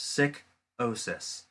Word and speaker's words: Sikosis: geek and the menace, who is well known as Sikosis, pronounced Sick-osis.